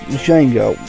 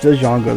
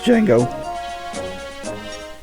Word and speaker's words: Django: And that is pronounced Django. When my brother and I were kids, we thought it was pronounced Django though, but no, it's Django.